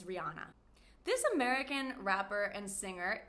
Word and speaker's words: Rihanna: So a lot of people say Rihanna, but the correct pronunciation is Rihanna.